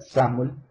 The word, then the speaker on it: XAML: es como se pronuncia, se escribe XAML, se pronuncia SAML, no confundirlo con XML o con la pronunciación